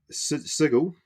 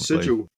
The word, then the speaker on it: Sigil: Project Sigil. I know how to say that now. I am part of the clan. I think they actually mispronounced that at the live stream though. They called it Sigil.